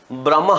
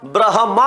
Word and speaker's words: ब्रह्मा: हैं ना हम ब्रह्मा ब्रह ब्रम नहीं होता ब्रह्मा होता है तो यहां पर है